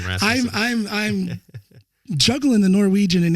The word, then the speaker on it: Rasmussen: Do you pronounce it Rasmussen or Rasmussen? It's an American Rasmussen.